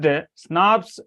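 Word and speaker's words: snRNPs: See here, pronounced SNRPs short for small nuclear ribonucleoprotein.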